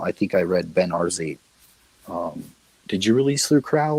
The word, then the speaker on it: Arzate: But I that's how I discovered Ben Arzate was that book. But congratulations on self-publishing it. Thanks. It's pronounced Arzate.